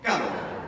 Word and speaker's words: caro: È difficile fare, però, ad alta voce, di nuovo, caro.